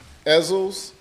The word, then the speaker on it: Ezell's: Ezell's, Ezell's, Ezekiel's. No matter how you pronounce it, it comes out good at Ezell's.